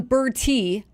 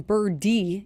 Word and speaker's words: Berti: I thought it was John Berti, but the pronunciation in Baseball Reference has it John Birdie, even though he spells his name Berti. Yeah.